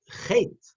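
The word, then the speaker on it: חטא: But the Aleph is silent. You don't pronounce it.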